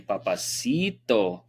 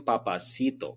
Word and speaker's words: papacito: Colombian papacito. If you're not going to say it right, don't say it at all.